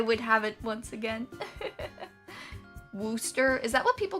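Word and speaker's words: Worcester: crazy that's the JB pronunciation is Wooster so weird it's not even spelled like that at all I don't I don't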